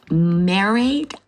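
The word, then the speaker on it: Mairead: The artist is uh Myerade Furlong. Gosh, I hope I said that right. She's The artist said, "You pronounce her name like Lemonade." So, it's M A R E A D. Married Furlong.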